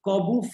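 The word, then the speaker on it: Korbut: So your answer is the Corbu flip. Yes. Named after Olga Corbu. The T is silent.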